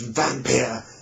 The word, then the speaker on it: Wampir: Up until that time, he had used the term vampire, spelt Wampir. It would have been pronounced vampire, but vampire, and the character was Count Vampire and the Undead.